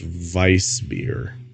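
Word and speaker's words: Weißbier: myself with it cuz it's like w i e and then it has this weird like B symbol in front of it that you're supposed to pronounce differently uh let's see uh sorry I'm accessing the data bank right now apparently it's pronounced Vice beer yeah that beer and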